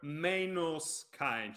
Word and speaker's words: Meinos Kaen: Well, hello there, Meinos Kain here, which can be a bit weird to say considering it's written like this, but the thing is that it's an Italian pronunciation because I'm Italian, class 1988.